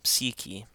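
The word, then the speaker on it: ⲯⲩⲭⲏ: So, in this case, it's pronounced like a short i.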